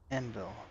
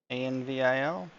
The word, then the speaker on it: anvil: Why did he say Envil? It looks to me. Spell that word because deaf. Envil? Yeah. A-N-V-I-L?